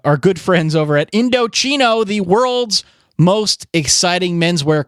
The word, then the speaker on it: Indochino: Indochino, it's Indochino, pronounced Indochino. And yes, you hear chino in there, that's because they are expanding into casual clothing, including made-to-measure chinos, which will quickly become your go-to pant.